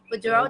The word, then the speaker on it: Beadreaux: Bourdeaux, did I pronounce that correctly?